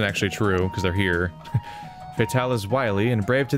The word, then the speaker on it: Fatale: Fatale... The E is silent in Fatale.